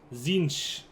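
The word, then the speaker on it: Tzeentch: Zinch. That's the proper way to pronounce it.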